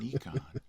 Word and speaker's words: Nikon: But you, I know for a fact, a long time ago you used to shoot Nikon and now you shoot Canon.